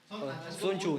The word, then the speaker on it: Sun Tzu: no pronunciarlo de hecho creo que la tz dentro del losa asiático se termina pronunciando como una ch Oh sería chuchu primero va la H después va la o porque dijo ch bueno ch o chu Sun chu ni mod quechu prácticamente